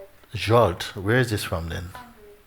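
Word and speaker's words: Zsolt: And Salt, Z-S-O-L-T, how you pronounce it? Huh? Jolt.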